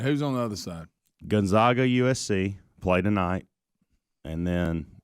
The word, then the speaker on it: Gonzaga: okay baylor and gonzaga gonzaga i say it wrong always the first time gonzaga the zags zags